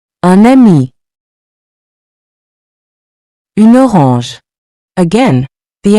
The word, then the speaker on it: un ami: Un ami. Notice how the N links to the vowel. Repeat after me to improve your pronunciation. Un ami. Un ami.